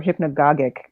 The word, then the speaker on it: hypnagogic: I think hypnagogic is the way that it's pronounced, or hypnagogic, I think is also, you could say.